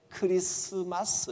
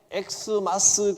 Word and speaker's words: 크리스마스: 읽을 때는 크리스마스 이렇게 읽어야 됩니다. 그리스도 마스입니다. 마스는 예배한다. 영광을 돌린다. 그런 뜻이거든요. 예수님께 영광 돌리는 날이라 그런 뜻입니다. 이것이 X가 아니고 그리스도의 앞자를 딴 겁니다. 리스도 마스라는 뜻입니다. 이걸 읽을 때 엑스마스 그러면 이제 무식한 겁니다. 누가 이제 엑스마스 그러면 아유 무식하게 그게 아니고 크리스마스입니다. 무식하게는 속으로만 속으로만 하고 크리스마스입니다.